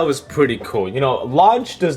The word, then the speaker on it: Launch: a subtle mention towards launch from the original Dragon Ball. I haven't eaten this well since lunch. Actually, it's pronounced Launch Vegeta.